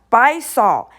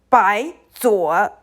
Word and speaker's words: 白左: It's not 白扫, it means 白左.